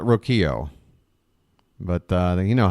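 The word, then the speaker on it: Rocchio: to First in time it rhymes with Tokyo okay so it's Brian rokio I've heard people call it roio but uh you know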